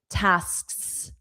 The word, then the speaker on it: tasks: tasks sks sks So, the SKS, that's a tricky sound, one to practice.